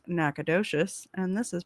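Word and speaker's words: Nacogdoches: For the record, uh, this is pronounced Nacadocious and this is pronounced Bernie.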